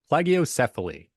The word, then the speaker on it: plagiocephaly: Plagiocephaly. I think I might have actually said it right, but we'll just pretend I did and give me Say it with kudos. conviction and go. Yes, exactly. Plagiocephaly.